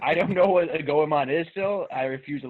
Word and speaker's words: Goemon: Tony Hawk Pro Skater 2 versus Goemon's Great Adventure. So Goemon still rhymes with Digimon, and I really like Digimon a lot.